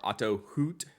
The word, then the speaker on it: Otto Hutt: so this is the auto Hut or Auto hoot that's how they pronounce it design 03 I have